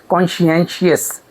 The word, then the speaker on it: conscientious: The pronunciation of this word is conscientious.